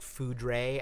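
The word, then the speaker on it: foudre: if you've ever seen it looks like food ray f-o-u-r or f-o-u-d-r-e but means the same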